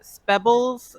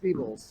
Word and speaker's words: Spebbles: You can find me pretty much anywhere at Spebbles. So that's gonna be SPEBLIZ. I thought it was pronounced Speebles. Speebles, Spebbles. Everyone has a different pronunciation.